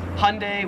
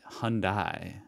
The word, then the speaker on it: Hyundai: So in America, we pronounce this Hyundai, which everyone tells me is wrong. See, I don't like the. I always try to pronounce the Y. Hyundai. That's how I say it.